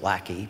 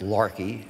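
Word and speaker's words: Laki: volcano that spelled l-a-k-i so you think it's pronounced Lackey but it's pronounced Larkey that it's in Iceland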